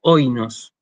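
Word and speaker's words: οἶνος: Pese a que yo esta palabra la pronuncio oinos. El acento lo hago sobre la primera de las vocales del diptongo.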